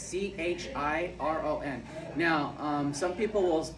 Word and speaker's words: Chiron: Chiron, it's Chiron. Now, some people will pronounce it like Chiron, but yeah, which, I mean, if you want